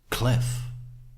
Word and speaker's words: Cliff: That's what I do, because we all know that it's not Clive Newman, it's Cliff, right? Clifton Newman, which is much more judge sounding.